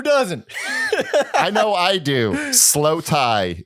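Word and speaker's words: Slowthai: Slow Tie is, and it's spelled THAI. Oh, all right. Like the people.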